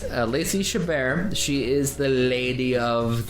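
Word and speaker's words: Lacey Chabert: that is Lacy shabar that is how we say her name we said it wrong last time or I did or something but it is Lacy shabar she is the Lady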